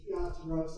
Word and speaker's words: Piazzaro: Here is Piazzaro's, by the way, the pronunciation is Piazzaro, it's Italian, not pizza.